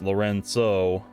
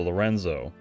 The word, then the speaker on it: Lorenzo: I've been saying Lorenzo this whole time because that's a common name that I hear in the United States, and it's pronounced Lorenzo over here. But I guess it's actually pronounced Lorenzo as opposed to Lorenzo.